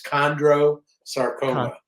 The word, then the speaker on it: chondrosarcoma: Yeah, I don't know if you said it right. It's Chondrosarcoma. Thank you.